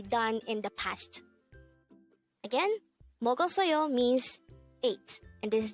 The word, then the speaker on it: 먹었어요: in the past again mogo soyo means eight and this is the pastas of eat or mogoyo how do we write mogul soyo in hango this is composed of four syllables let's start with the